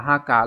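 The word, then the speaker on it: 墓: chữ mộ khác mang nghĩa là ngôi mộ, đọc là haka là âm kun.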